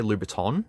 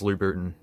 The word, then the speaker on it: Louboutin: gotta say it correctly I'm tempted to say Louboutin but it's Louboutin I'm just gonna call